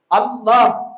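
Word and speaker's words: الله: சதக்கத்துல்லா அப்பா சொன்னாங்க இதுல ரெண்டு லாம் வருது. அதனால இது வந்து இந்த ரெண்டு லாம் வர்றதுனால லாம் மாதிரியும் உச்சரிக்க கூடாது. லாது மாதிரியும் உச்சரிக்க கூடாது. ரெண்டுக்கும் நடுநிலையாகதான் உச்சரிக்க வேண்டும் என்று பிரச்சனை.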